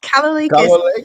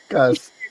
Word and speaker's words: Kalolekas: Her name is Missy Kalolekas, if I've got that right. Welcome to the holding space. Is that correct? You did it, yes. Kalolekas. Kalolekas.